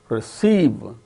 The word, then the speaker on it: receive: Receive, examine. So, in the case of all these 6 words, the second syllable is stressed and the remaining syllables are not stressed.